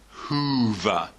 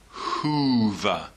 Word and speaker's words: Hoover: one a long o sound in the word Hoover Hoover Hoover so I want you to practice getting